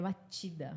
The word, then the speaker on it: Machida: inclusive gente eu falei ali outro Machida é matida é não se escreve se escreve matida mas fala matida não